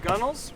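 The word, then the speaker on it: gunwale: so I probably don't Gunnels? do that. I could have brought some guns. That'd have been fun. Gunnels. The gunnel is actually gun whale. Like if you spell it out.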